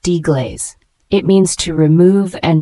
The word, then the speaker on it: deglaze: g l a z e is a verb pronounced deaz it means to remove and dissolve the browned